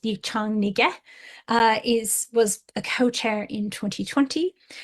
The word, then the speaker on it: Miriam Yang: as Miriam Yang, but whose name would be more appropriately pronounced Yichang Nige, was a co-chair in 2020.